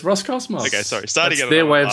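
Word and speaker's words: Roscosmos: I found that funny is it the Russian space agency or Ross kwos I'm like what that's what it's called it's Ros Cosmos their way of saying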